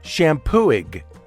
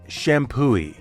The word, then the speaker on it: Champoeg: it should be pronounced shampo IG right why isn't it shampoo H H is right the g is silent and the accepted pronunciation is shampoo now that that is